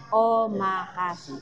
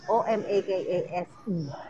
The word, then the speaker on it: omakase: Kaya hindi ko alam kung paano i-pronounce. Omakase. O-M-A-K-A-S-E.